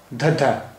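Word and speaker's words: ਧੱਧਾ: ये पंजाबी भाषा का 24वां अक्षर धद्धा। धद्धा, धद्धा, इसका उच्चारण हिंदी के धा जैसा है, धद्धा।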